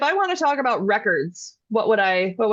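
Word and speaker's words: récord: Record. Yeah. I just say it with a Yes. Spanish accent. Yeah. Aha, even you Uh, said roll your R, record.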